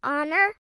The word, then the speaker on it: honor: What about honor? You got it. The H is silent so it's an honor to meet you.